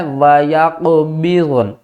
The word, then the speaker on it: وَيَقْبِضْنَ: وَيَقْبِضْنَ. دونوں کو ہم نے ایک ہی مرتبہ پڑھنا ہے، با غاد نون زیر بِضْن، کیونکہ یہ بھی ساکن اور یہ بھی.